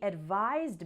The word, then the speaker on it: advise: noun for example she advised me to get some rest she gave me some good advice there's also a pronunciation difference advise has a z sound and advice has an